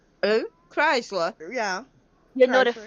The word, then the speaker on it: Chrysler: you pronounce the word what's that word? Chrysler? Who? Chrysler.